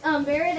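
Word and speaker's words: بارد: Barid means barid is pronounced bear egg. Barid.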